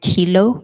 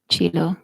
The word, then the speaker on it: Kilo: Moeketsi, the name is pronounced Kilo and not Chilo. Kilo.